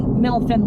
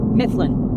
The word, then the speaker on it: Mifflin: We're taking a ride on Alabama's coastal connection, Milfin Road, in 0.3 miles. Yeah. Or Mifflin. Sorry, I said it wrong.